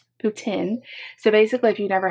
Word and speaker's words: poutine: friend darlene too that it's putin that you guys call it putin and in america we say poutine i don't know i'm gonna defer to the canadian pronunciation poutine so basically if you've